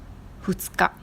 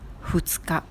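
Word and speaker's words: ふつか: Ensuite, le jour 2, futsuka. Ka signifie le jour en kunyomi, la prononciation japonaise. Et vous vous rappelez que 2 en comptage Yamato, c'était fu. Le jour 2 est futsuka.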